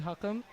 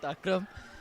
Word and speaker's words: Hakam: name wrong here D my name is hakam not akam um and yeah I